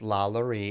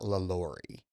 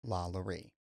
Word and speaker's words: LaLaurie: So it's LaLaurie. It's not LaLaurie. Okay. LaLaurie. Okay.